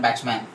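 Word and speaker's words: Bachman: You can talk like Batchman. Okay, but Beckman is the pronunciation.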